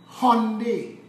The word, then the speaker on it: Hyundai: because Trinidad and Tobago, Hyundai is how it's pronounced, is the largest manufacturer of ships and boats in the entire world.